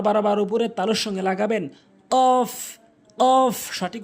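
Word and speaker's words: قاف: কফ ভুল উচ্চারণ, কফ ভুল উচ্চারণ, কফ সঠিক উচ্চারণ, কফ সঠিক উচ্চারণ। জিহ্বার গোড়া উপরে তালুর সঙ্গে লাগাবেন, জিহ্বার গোড়াটি নিয়ে তার বারবার উপরে তালুর সঙ্গে লাগাবেন, কফ কফ সঠিক উচ্চারণ, কফ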